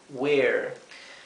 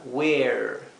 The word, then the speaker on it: where: Aquí esta e, la segunda e es muda, la primera e que tiene que ser una e larga. Where?